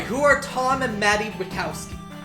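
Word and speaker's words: Wachowski: are Tom and Maddie wowski let pronounced wow not wowow yeah I was Wonder the impression it was wowski but like I rewatched the movies like oh the H is silent wowy original yeah I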